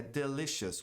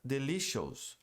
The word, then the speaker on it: delicious: É delicious. O ponto aqui é a pronúncia de O-U-S. Tem som de S e não de Os. Muita gente pronuncia delicious. Ou a palavra óbvio, obvious e não obvious.